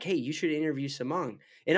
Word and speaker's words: Samong: hey you should interview samong and I'm pronouncing that right right samong you're you're nailing it all right cool anyways